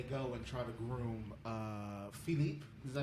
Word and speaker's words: Philippe: So Nora, what's in your all right, so after Ocean's 11, they go and try to groom Philippe. Is that how you pronounce it? Yeah. Philippe.